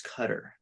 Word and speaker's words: Qatar: middle or high school told me it was cutter and I've always said it that way um but my impression